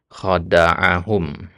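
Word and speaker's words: خَدَعَهُمْ: Ya, di situ bacanya khada'ahum. Ya.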